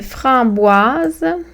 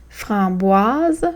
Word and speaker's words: framboise: Framboise, framboise. Puis ici, je vous invite à remarquer que le S est entre deux voyelles, donc il y a le son Z.